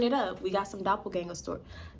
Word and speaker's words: doppelgänger: up we got some doppelganger store doppelganger I feel like I said that wrong we got some Doppler gang how you say it doppelganger all right I had